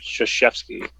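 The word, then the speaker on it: Krzyzewski: doesn't read okay no there's one k sounding thing in there and it's not at the beginning yes oh dude people's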